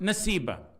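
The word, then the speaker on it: نسيبة: Her name is pronounced Nasiba.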